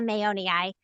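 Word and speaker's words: mayonii: Bia mayoni. Um if you're trying to remember how to say it, think of Mayo like Mayo Clinic like we named it after the Mayo brothers.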